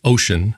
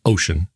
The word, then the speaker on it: Wouxun: of the first to get one wookson ocean pronounced ocean spelled wookson pronounced ocean ocean kg uv9g radio i'll be going over